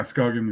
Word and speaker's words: Skagen: I pronounce it right Skagen yeah scogan is right yeah because it doesn't have a two A's and it doesn't have a zero on top of it Circle um sorry